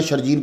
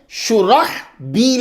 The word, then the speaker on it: شرحبیل: شرجیل کوئی لفظ ہو۔ یہ تلفظ اصل میں شرحبیل ہے، یہ سب سن لیجئے۔ اور وہ صحابی جو مشہور ہیں ان کا صحیح نام شرحبیل بن حسنہ ہے، شرجیل بن حسنہ نہیں ہے۔ کیا نام ہے؟